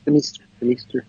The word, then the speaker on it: Demeester: Is it pronounced? Demeester.